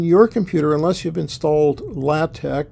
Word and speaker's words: LaTeX: computer unless you've installed latte which is spelled looks like it's spelled latex um you can knit